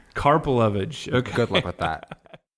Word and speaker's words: Karpelevitch: and how do you say your last name carpage carpage okay good luck with that so Daniel you